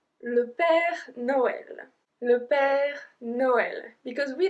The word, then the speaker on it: Noël: So this one is a particular one because they are the tréma, the two little dots on the E, which means we have to pronounce the E as well.